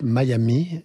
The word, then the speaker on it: Miami: deuxième on a tourné à miami oui prononce my amis et j'ai appris ça